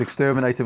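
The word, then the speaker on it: XTRMNTR: later albums and this is from the album exterminator as I would pronounce it which is of course exterminator with the vowels taking out um and this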